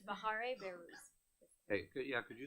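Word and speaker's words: Bahareh Behrouz: But it's Bahare Behruz. Hey, could you spell it for us, please?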